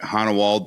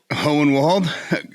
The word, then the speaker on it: Hohenwald: He is the owner of ARG Outdoor Services out of, I never pronounce it right, Honewald, Tennessee. Hohenwald.